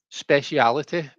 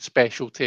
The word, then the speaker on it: speciality: Speciality is a kind of a British thing that we do. Um, we tend to add that I and make it that pronunciation, and it's I think it's become, it has become.